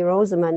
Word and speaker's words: Rosamund: And I once asked my mom, why did you name me Rosamund?